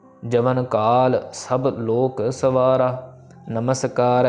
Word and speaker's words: नमस्कार: सो मैंने वही लिखा हुआ है कि यहाँ पे कि मेक श्योर टू प्रोनाउंस मम्मा इन नमस्कार कम्प्लीटली, क्योंकि मम्मे को अगर